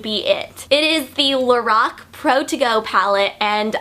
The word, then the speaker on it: LORAC: brand is actually pronounced lorac and not lorac I met a girl that does work for lorac and she said that the name is pronounced lorac because it's actually the creator's name backwards so Carol and backwards